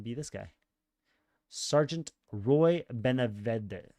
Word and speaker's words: Benavides: Sergeant Roy Benavides. How do you say that? Benavides.